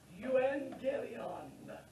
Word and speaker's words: Euangelion: It's pronounced Euangelion.